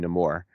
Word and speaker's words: Namor: he they call him Namor but he pronounces his name no more and they call him nemour because he is that's what he's described as by the colonizers of the of the